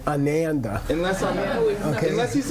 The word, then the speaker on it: Ananda: Don't say Ananda, because that means the unhappy guy. You see what I mean? Let me hear. Ananda. Yeah, not Ananda. Ananda means unhappy.